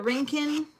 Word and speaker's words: Rincon: So we're looking in the Rincon. We had to learn how to say it because we were saying it wrong. How are the housing Rincon.